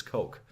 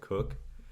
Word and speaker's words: Koch: yeah my friend Curtis coke like some people pronounce it cook I know it's it's a weird spelling hatch Koch coach if